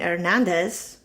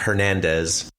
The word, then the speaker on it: Hernandez: Por ejemplo, Erin Hernández, que aquí lo pronuncian Erin Hernández. No, that's with an H, Hernandez.